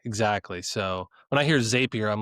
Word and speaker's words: Zapier: Um Zappier makes you happier. That's how I remember to pronounce it. And it's also it's a zap, right? It's not a zape.